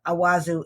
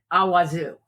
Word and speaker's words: Awazu: name of the battle is spelled a w Zu so I would say it awazu we really need an